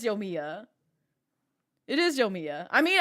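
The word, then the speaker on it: Yoimiya: I didn't know if it was like Yomiya or Yomaya. So I just said, I'm just going to call you Yomimi. This is what happens when it's just like nobody teaches me how to correctly pronounce her name. So I just give her my own name and I just go with it. Yomiya. Okay, so it is Yomiya.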